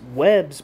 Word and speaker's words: Webb: and Mrs Webb's Jesus I'm starting to used to German pronunciations when I see strength Capital W's and that's not correct here Lenin wrote quote in Mr and Mrs Webb's book on trade unionism